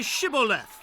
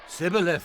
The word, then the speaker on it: Shibboleth: If he said no, then they would say to him, Then say Shibboleth. and he would say, Sibboleth. for he could not pronounce it right.